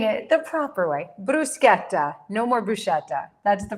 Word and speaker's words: bruschetta: I hear a lot of people say bruschetta. We're not going to say that anymore. It's bruseta. So, please join me in saying it the proper way. Bruseta.